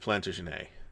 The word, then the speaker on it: Plantagenet: an operational organ so i've always pronounced it plantagenet because they were french that's why so they spoke french